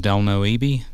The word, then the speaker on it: Delno Ebie: uh my name is del noebe that's like hell no with a d hell no no most